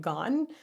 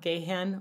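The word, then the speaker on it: Gahan: read online is wrong when he pronounces his name it's Dave gone not gayan or Gan just gone like g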